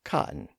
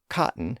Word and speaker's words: cotton: about the pronunciation of cotton. As you may have noticed, I pronounce the word in the typical American way by dropping the T sound in the middle. So, cotton instead of cotton.